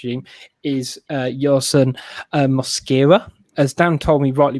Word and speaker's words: Mosquera: is uh your son muscara as dan told me rightly before the show when i was like how do you pronounce it when it's mascara but slightly different so give you a